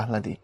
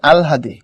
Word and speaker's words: আহ্লাদ: দেখি, that is ওয়াই আমরা পড়ার সময় পড়ি আহলাদি, কিন্তু কথাটা ভুল। ওটা শুদ্ধ যে উচ্চারণ সেটা হচ্ছে আলহাদি। অর্থাৎ আগে আসবে ল, তারপরে আসবে এই আলহাদি, এটা হচ্ছে উচ্চারণ। এর মানে তুমি যখন লিখবা, লেখার সময় তুমি ধরো লিখছো এরকম করে, হলো আহ্লাদ না, আহ্লাদ না উচ্চারণটা, উচ্চারণটা হলো আগে ল তারপরে হ, আলহাদ।